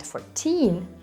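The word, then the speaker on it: четырнадцать: And by the way, this is how 11 sounds in Belarusian, but in Russian it is 11, 14.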